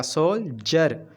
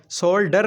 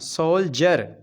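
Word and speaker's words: soldier: गया यह वाला आई तो क्या बन गया सोल्जर या डी जीम की बाज निकालेगा सोल्जर सोल्डर नहीं कहना सोल्जर जीम की बाज निकाली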